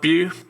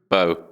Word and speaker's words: Beau: Beau Is that pronounced Bew? Bow.